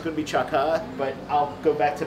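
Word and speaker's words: Chả cá: How would you pronounce Cha Ca, Mai? It's Cha Ca.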